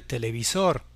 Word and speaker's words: televisor: Téléviseur, un mot très près en espagnol qui se termine par un R. Là aussi, on accentuera la dernière syllabe pour dire el televisor, el televisor.